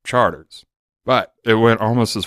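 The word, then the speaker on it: Chartres: think I'm crazy because it's spelled CH a our PR es and people say Charteris and all this stuff but if you're from the city if you're from New Orleans we call it charters but it went almost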